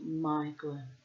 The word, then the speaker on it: Maeglin: No, it's Maeglin. I remember the pronunciation correctly. A-E is like I. The eye of the tiger. Maeglin.